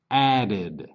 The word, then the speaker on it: added: add add added add added with this one the last sound is d d so added will be down here with the third column where we add an extra syllable added d died die